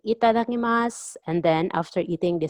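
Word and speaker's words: いただきます: And usually if they start eating again, they say itadakimasu. So drop the u sound at the end. Itadakimasu. Itadakimasu. Itadakimasu.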